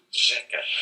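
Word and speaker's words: řeka: Instead, it's pronounced rzeka.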